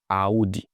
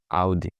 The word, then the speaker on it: Audi: Audi, not Audi. You don't you don't pronounce it the way you read it as in audio. No, you say Audi.